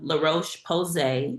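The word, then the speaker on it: La Roche-Posay: I do my La Roche Posay is how it's pronounced.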